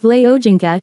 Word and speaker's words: Wole Soyinka: Born 13 July 1934, known as Wole Soyinka, pronounced Vle Ojinka, is a Nigerian playwright, novelist, poet, and essayist in the English language.